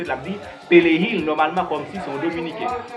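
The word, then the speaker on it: perejil: Persil en espagnol, on a prononcé pelehil.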